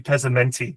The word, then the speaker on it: Pezmenti: Now, have I have I pronounced your name correctly? You've done really well, Tristan. I was I was impressed actually. I'm like, "Oh, here he goes. Here he goes." But no, you nailed it in one.